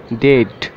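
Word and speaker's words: death: তো চলুন আরেকটি উদাহরণ দেই, ডেট। তো এখানে আপনারা বুঝতে পারবেন যে ই এ এটির উচ্চারণ কিন্তু এ হচ্ছে। তো দেখুন খেয়াল করে, ডেট বলার সময় ই এবং এ এর সাউন্ড এ এর মতন হচ্ছে।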